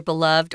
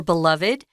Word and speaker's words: beloved: people love a lot so they're beloved or beloved uh you can pronounce it either way so the biggest of